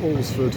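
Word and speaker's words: Alresford: Apparently it's spelled but it's pronounced Olsford.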